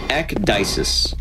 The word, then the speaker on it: Ekdisis: My name is pronounced Ekdisis. Kind of like, think like dice, like dices, and then Ekdisis. That's how I pronounce it.